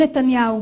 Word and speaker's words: נתניהו: Basta procurar um pouquinho para você encontrar o nome dele sendo pronunciado da forma correta em hebraico legítimo. זה היה לא אחר מאשר ראש הממשלה בנימין נתניהו.